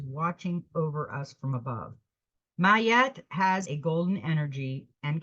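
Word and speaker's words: Maat: yourself the friends will come now we got ma yet that's how she's pronounced my yet is an ancient Egyptian deity associated with truth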